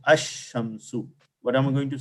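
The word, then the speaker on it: الشمس: But when I say Ash-Shamsu, did I say Al or I said Ash? Ash. Ash. So Right. we miss Lam. Lam is silent.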